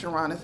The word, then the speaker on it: Uranus: So since we're doing that, let's switch to Uranus, which is, well, it's pronounced Uranus, but I like to say Uranus because I get to say anus.